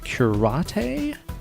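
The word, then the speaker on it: Cúrate: at this place called karate it looks like it's spelled curate but there's an accent over the E because it's a Spanish tapas bar what and holy [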